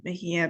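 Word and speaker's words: Mejía: Yes, it's Mejia, but I actually am located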